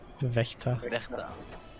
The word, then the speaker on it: Wächter: Wächter.